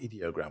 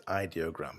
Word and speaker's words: Ideogram: this actually or um I I pronounce it idiogram but they say it's ideogram so with ideogram.ai and